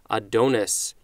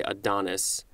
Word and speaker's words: Adonis: the oh I don't is it Adonis I think I think in English we say Adonis I don't know why I said adonus with the Greek one but maybe that's how they said it I'm I am NOT